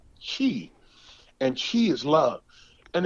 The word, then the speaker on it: Qi: he talks about um it's spelled Qi and it's called Chi and Chi is love